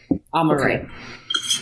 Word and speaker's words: Amaarae: Amaarae.